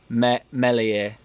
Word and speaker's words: Meslier: talk a bit about i've been learning some french so i'm now saying mellie i ain't really been learning french that's obviously a joke and i'm still going to say meslier so tech it um